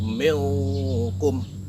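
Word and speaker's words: minkum: Nah, cara membacanya adalah dengan menyamarkan huruf N itu menjadi huruf NG atau eng. Jadi tersamarkan menjadi bentuk NG. Contohnya ada pada kata milkum.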